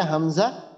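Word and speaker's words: همزة: এই যে শুরু থেকে হামজা আর হা এই যে এটা হামজা আর এটা হা তো এই দুইটা হরফের উচ্চারণ হবে কণ্ঠনালী থেকে কণ্ঠনালীর একবারে শুরু থেকে শুরুর ভাগ বলা হয়েছে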